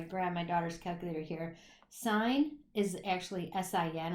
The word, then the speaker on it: sine: So if I grab my daughter's calculator here, sine is actually S-I-N. A lot of people think it's pronounced sin, but it's actually a shortened version for sine.